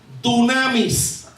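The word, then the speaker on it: dynamis: recibiréis poder y poder en el griego se pronuncia o se dice tsunamis qué significa dinamita a una explosión las dinámicas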